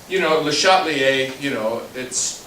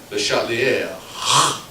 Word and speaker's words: Le Chatelier: Now, Le Chatelier, it's not quite the right pronunciation because, if you were speaking French, you'd say Le Chatelier.